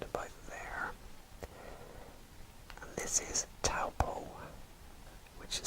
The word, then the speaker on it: Taupo: once again around about there and this is taupo which is spelled t a u b o and that is taupo and near the coastline here we have gisborne